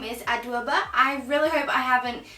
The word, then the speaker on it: Adwoa Aboah: I am 21 years old, I'm from London, and my name's Adwoa Aboah. So I think I pronounced her name correctly.